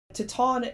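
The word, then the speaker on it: Titane: of the way so you too could actually pronounce this film properly titon is a really audacious movie it is the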